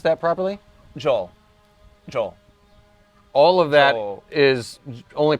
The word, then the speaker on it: Joel: uh a co-author named joe l chasnoff did i pronounce that properly joel joel all of that is only pronounced joel the whole thing is just pronounced joel joel chasnoff okay yeah